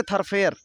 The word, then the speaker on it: thoroughfare: तो क्या होगा उसके लिए, this is नॉट ए थरफेयर, this is नॉट अ थरफेयर। Spelling बहुत ही अजीब है, देख लेना, THOROUGHFARE, थरफेयर।